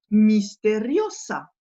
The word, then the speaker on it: misteriosa: titre, par exemple, la misteriosa. Les deux S ici se prononcent bien S, alors qu'en français, le S entre deux voyelles va se prononcer Z.